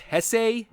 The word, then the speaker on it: Jesse: So later, in the endless Dodge Ram commercial that is Walker's life, Walker and Mendoza's chief security officer Jesse Rodriguez, wait, shouldn't that be pronounced Hesse?